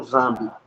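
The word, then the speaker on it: Nzambi: Então, é, embora esteja n zamb, mas se pronuncia zamb. Então, eh, engar com Zambi.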